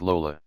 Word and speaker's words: Lola: a snitch me and her name rhymes with granola lenny lisa very no lenny it's lola holds up the bug